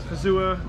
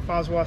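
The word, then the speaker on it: Fazua: plus powered version we're running the pazua or phoswa system depending on your pronunciation so this system is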